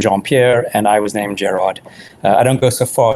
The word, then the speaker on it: Gerard: Gerard, you were going to Well, it's interesting because I often, with the surname, people always assume that my name is Gerard.